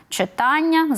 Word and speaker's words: читання: і завдання і інше А ми маємо пам'ятати що якщо в основі лежить дія і маємо оцей суфікс Ан і кінцівку Ання той наголошуємо ми на Аня читання запитання там видання виховання